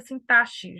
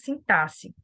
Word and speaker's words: sintaxe: sintaxe tá não se não se pronuncia sintaxe já falei isso também numa aula anterior nós falamos sintaxe tá bom cujo propósito